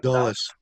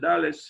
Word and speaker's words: Dulles: If Bruce is still here, I would ask him what is the correct pronunciation of this word. Dulles.